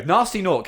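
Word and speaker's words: Gnasty Gnorc: No, nasty noc. His name is spelled with a G at the front.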